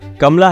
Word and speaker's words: Kamala: we are talking about camela Harris or kamla Harris as we pronounce it in India yes please okay cuz